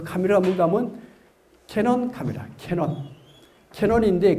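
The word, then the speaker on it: Canon: 그 카메라가 뭔가 하면 캐논 카메라. 캐논인데 그 캐논이 뜻이 뭔가 하면 관음이요. 관음을 일본식 발음은 캐논이 돼요.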